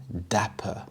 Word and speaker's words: dapper: extremely knowledgeable Dapper Dapper the stress is on the first syllable Dapper this means neatly dressed